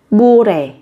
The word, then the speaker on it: 모레: Đây là phát âm, các bạn sẽ phát âm không hẳn là giống như là âm m mà giống như là âm b các bạn nhé.